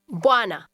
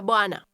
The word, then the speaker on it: bwana: Does your pronunciation sound like the speaker's? Say no. Hapana. No, sir. Listen and repeat. Hapana bwana. Bwana.